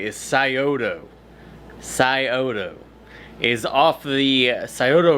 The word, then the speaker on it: Scioto: so the name of this company correctly is Scioto. Scioto is off the Scioto River out of Ohio, and that's where they came up with the name. So it's not Ska, it's Scioto.